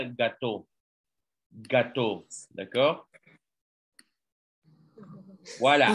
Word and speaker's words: gâteau: Ah, es que el sonido se parece a la palabra gato del español, pero pastel en francés se escribe así como lo miran ustedes y se pronuncia gâteau.